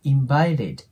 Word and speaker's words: invited: んですよねこれ T が母音に挟まれる時は T の音はラ行に変換するっていうのがあるのでアメリカ英語では invited って発音するよりも invited invited て感じになることが多いです